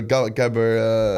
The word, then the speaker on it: gabber: It was like a hardstyle music, so it's like a gabber. I mean, you are from Rotterdam, so the home of is it Jabba? Gabber. That's how you pronounce it.